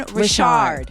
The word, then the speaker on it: Richard: everyone's been telling me your last name is pronounced differently Rashard that is my name I'm not trying to